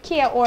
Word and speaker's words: Kia Ora: Kia Ora people have well it's Kiara oh okay Kiora is the correct way to say it but it's just simply like people prefer to say Kia or okay yeah it's Kiara